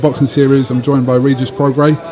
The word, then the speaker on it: Regis Prograis: joined by regis progre if I pronounced your name right you got it perfect most people get it wrong what we're getting out in my country and they say Rita's progress recent progress reaches all kinds of stuff what you